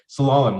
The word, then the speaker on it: Slalom: I can't pronounce this as well, but slalom, like this skiing when you go down.